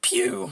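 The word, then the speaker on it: più: in Italian dad and he's like oh it's piu I was like really how do you spell that like PE w like the company that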